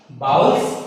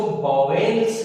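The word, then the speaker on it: vowels: बाउल्स, consonants, बहुत से लोग, ज्यादातर लोग इसको वॉवेल्स बोलते हैं, जो कि बिल्कुल गलत है। प्रोनाउंसिएशन भी इंग्लिश में बहुत इंपॉर्टेंट होता है, इसलिए जहां तक संभव हो सके वहां आपको शब्दों का प्रोनाउंसिएशन सही करना चाहिए। वॉवेल्स बिल्कुल नहीं बोलेंगे, बाउल्स।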